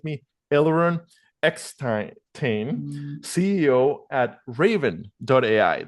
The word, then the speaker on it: Ravin: Elon xain CEO at raven. that's spelled with an i what pronounced raven like the bird uh so so thank